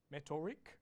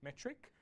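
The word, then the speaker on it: Metorik: You'll see with the lower third, the way that this company is pronounced, I was calling it Metoric, but it's actually Metric.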